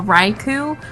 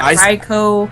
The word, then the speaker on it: Raichu: Uh, Raichu. Uh, not Ray Rayo. I've never heard someone say that. Ryo. I hate that. No, I used to say Reicho, but it's like Raichu.